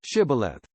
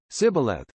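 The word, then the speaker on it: Shibboleth: replied no they said all right say shth if he said Sith because he could not pronounce the word correctly They seized him and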